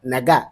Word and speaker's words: nga: Naga, because there is n. The n is not silent here.